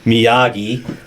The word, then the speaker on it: Miyagi: Miyagi, the building's inscrutable caretaker and unexpected master martial arts mentor.